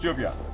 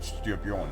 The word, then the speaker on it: Styrbjörn: And Styrbjörn, the king we swore allegiance to in the introduction, is pronounced Styrbjörn, not Styrbjörn.